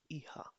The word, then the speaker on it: ihr: इहा. Pronounce with Iha.